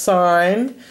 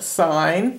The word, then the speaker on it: sine: first one is pronounced sine its abbreviation is s-i-n but it is pronounced sign not sin there's no sin in